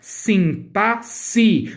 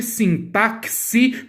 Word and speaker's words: sintaxe: o fato de que a pronúncia correta deste termo é sim passe não existe sim táxi pelo amor do universo